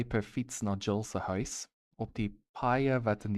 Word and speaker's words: huis: Jill en Jack se huise. Oh, se huise. Dutch is again corrupting my brain. The Dutch pronunciation of huis is actually house, like basically the same as the English word.